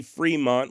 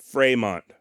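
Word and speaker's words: Frémont: is to indicate that the vowel should be pronounced as an a sort of like cafe or puree in other words the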